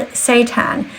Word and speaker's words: seitan: steak, and believe it or not, it's called seitan, and it's spelled Seitan, and it's packed with protein.